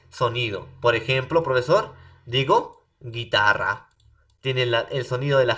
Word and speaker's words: guitarra: Para poder pronunciar, ¿no? Con el sonido de la G, ¿no? Tengo que agregar una U entre la G y la vocal E o la vocal I.